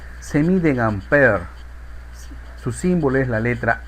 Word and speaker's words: ampere: Se simboliza por la letra A y no se castellaniza, o sea, no se dice amperios. Según las reglas que nosotros hemos aprendido, se debe llamar exactamente en su nombre, ampere.